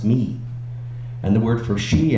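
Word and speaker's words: מי: backwards so for instance the word for who in Hebrew is pronounced me and the word for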